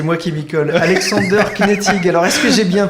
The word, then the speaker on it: Knetig: Alexander Knetig. Alors, est-ce que j'ai bien prononcé ?